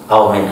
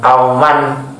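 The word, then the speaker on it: من: Jadi kalau ada min itu di sini minnya ditandai kasroh supaya Anda tidak terkecoh ya. Anda bacanya bukan auman ahaduhuma, bukan, tapi aumin ahadihima. Jadi ini untuk mimnya ditanda kasroh supaya membedakan antara man dan min ya.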